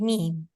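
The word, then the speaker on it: ميم: So when we pronounce M and M, both the dry parts of our lips are going to be connected.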